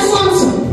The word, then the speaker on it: солнце: Все материки согреваются солнцем. Солнце – основной источник энергии. Какая орфограмма в слове «солнце»? В слове «солнце» непроизносимое согласное «л», приверженное слово «солнечный» или «солнышко».